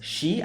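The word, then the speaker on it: 四: Is 4 is actually pronounced as she, I think, she, and she means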